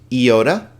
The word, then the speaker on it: iota: And that's why I picked the word intrigue, because this shows you the two ways that iota can sound. I, E, right? Intrigue. I or E. It can be long or short, but don't worry too much about that. It's a very subtle difference.